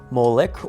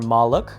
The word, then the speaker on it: MLK: The MLK sacrifice, often pronounced Moolik or Malik, is described by Jeremiah in chapter 19 and Psalm 106, as a human sacrifice to Bal.